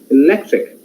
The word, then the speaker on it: electric: Electric, lec is the tonic in the sense of stressed syllable.